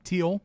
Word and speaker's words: Teal: We got Nyla Rose, Britt Baker, Allie, Brandy Rose, Is it Teal? Teal. Okay, I didn't know she pronounced it weird. Like the color.